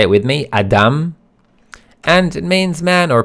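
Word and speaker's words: אדם: as you can see the first letter is aleph and the sound that it makes is ah So Adam that's how it's pronounced say it with me Adam and it means man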